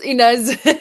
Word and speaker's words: Ines: And am I going to get your name wrong? Inez? Um yeah, it's Inez.